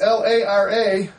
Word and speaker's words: Lara: I don't think it's Laura. It's Lara.